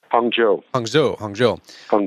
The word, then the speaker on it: Hangzhou: And excuse me if I don't pronounce it right. Is it Hangzhou? Hangzhou.